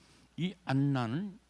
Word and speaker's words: 안나: 자, 그러면 오늘 본문의 말씀으로 들어가서, 자, 이 안나는 구약으로 말하면 누구냐면 한나냐. 안나. 히브리어로 이 안나는 헬라어 발음이고, 그리고 이 한나는 히브리 발음이야.